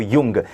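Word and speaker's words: Jung: में नहीं वास्तव में उसका जो प्रोनाउंसिएशन वो यही है, कार्ल गुस्तावो युंग। जंग नहीं है, ये युंग ही है उनका जो प्रोनाउंसिएशन है वो।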